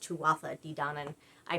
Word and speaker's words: Tuatha: so instead, I went with Danon for Tutha Di Danon. Tuatha, actually it's pronounced Tuatha Di Danon.